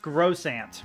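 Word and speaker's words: croissant: saying Crimson was that I learned from du lingo that it's pronounced gross an right that that um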